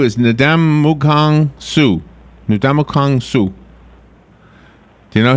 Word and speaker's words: Ndamukong Suh: Okay, the number 2 is Ndamukong Suh. Ndamukong Suh. Do you know him? Indomitian Sue.